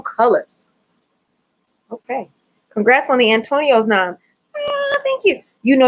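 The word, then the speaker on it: Antonyos: Antonio's, yes. I think they took the word Tony, and then they added the, you know what I'm saying? And make it kind of colored.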